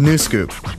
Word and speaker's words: Nuscup: fraction of a teaspoon the new scoop yeah it's spelled weird cuz it's from Switzerland